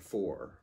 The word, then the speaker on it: fort: f o r and you don't pronounce the T the T the T would go unpronounced it's one of the